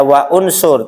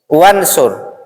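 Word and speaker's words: انصر: Kita bukan bacanya wa unsur, tapi wansur. Kenapa? Karena hamzah wasol hanya digunakan agar dia bisa dibunyikan ketika sebelumnya bukan huruf hidup, dibaca unsur, ya.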